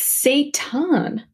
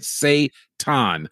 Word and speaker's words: seitan: It's Seitan. It's Seitan. Okay, yes. So pronunciation. We want to say it right. Seitan.